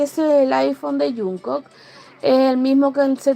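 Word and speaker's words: 정국: Pero en Corea la pronunciación correcta es como una Y. Jungkook. Jungkook.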